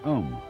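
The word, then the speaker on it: Aum: the sound um that sound is used because if you spell it out a u m it runs from the back of your throat to your lips and therefore it contains the whole range of The Voice and for that reason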